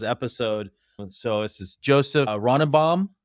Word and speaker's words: Ronnebaum: So this is Joseph Ronnebaum. Am I saying it right? Yeah, Ronnebaum, definitely. Ronnebaum.